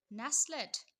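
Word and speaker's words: nestled: time in small village नेस्लेट इसको पढ़ेंगे नेस्लेट T silent है इसका मतलब होता है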